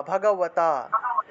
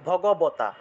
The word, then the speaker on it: ভগবতা: আপনাদের মনে করেন যে সাধারণ বধারণ ব দিয়ে দিয়ে যদি আমি উচ্চারণ করি বর্গীয় ব যদি এক্ষেত্রে আমি উচ্চারণ করি তাহলে ভগবতা বর্গীয় বগবতা আর যদি এটাকে আমি অন্তস্থ ব হিসেবে উচ্চারণ করি তাহলে ভগবতার মতই উচ্চারণ তবে ঠোঁট না লাগিয়ে বচ্চারণটা হবে বচ্চারণটা হবে ঠোঁট